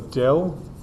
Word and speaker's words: del: That symbol people, most people pronounce this symbol as Dell. It's an upside down delta.